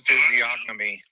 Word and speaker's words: physiognomy: The G's probably silent. This is Key Wendell. Let me see. Hold on. Are you looking to pronounce physiognomy?